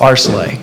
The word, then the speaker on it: Areclay: I get that question all the time it's aray and my wife gets absolutely pissed off when people mispronounce it but it's chopped up more often